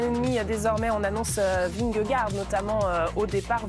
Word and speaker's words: Vingegaard: Désormais, on annonce Vingegaard, notamment au départ Vignegor. On prononce même, n'est-ce pas, le vainqueur du dernier Tour de France.